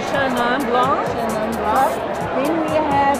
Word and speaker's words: Chenin Blanc: As a French person, you would say Chenin Blanc.